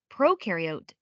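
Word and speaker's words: prokaryote: Proariote the pro rhymes with no and they have no nucleus which holds the genetic material and controls a cell's activities.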